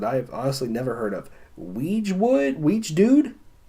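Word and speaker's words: Wiegedood: Weege Dude? It's spelled Wiegeedood.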